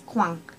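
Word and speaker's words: coin: prefer okay okay so in French it's not quack it's Quang and really make that sound like a bit like you've got a cold when you get to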